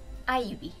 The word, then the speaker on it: Eevee: Cuando sacaron el nuevo videojuego de Let's Go Pikachu, también dijeron cómo se pronunciaba verdaderamente ese Pokémon adorable y espectacular que todo el mundo tiene entre sus favoritos. Y es Ivy. O sea, ¿what? Pues sí, Ivy.